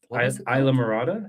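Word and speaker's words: Islamorada: And then we jumped in a car and started driving up to Isla Morada is how you pronounce it.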